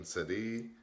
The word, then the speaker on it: Sidhe: Now, banshees, from the Irish being Sidhe, and hopefully I pronounced that right, it's spelled S-I-D-H-E, meaning woman of the fairies.